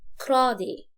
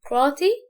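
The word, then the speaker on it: karate: يعني تي واقعة ما بين حرفين متحركين، وطالما ما بين حرفين متحركين هتبقى ايه؟ دي خفيفة، فيقول عليها كرادي كرادي كرادي كرادي. النطق ده يبقى انا عندي نطقين، يا اما كراتي او كرادي.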